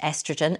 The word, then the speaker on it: estrogen: at, and that's whether the hormone estrogen, pronounced estrogen in the States, has potential as an anti-aging treatment for our skin.